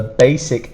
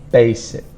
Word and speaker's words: basic: it's an IC and the stronger sound is on the first sound basic basic decomposition decomposition the